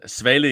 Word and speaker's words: Svale: I am delighted to be joined by Ryan Svale. I think I got that right, Ryan. I think Yeah, I was good with that Danish pronunciation. Svale in Danish, but it's okay.